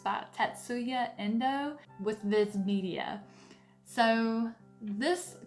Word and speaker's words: Tatsuya Endo: damage this name too badly, but it's by Tatsuya Endo with Viz Media.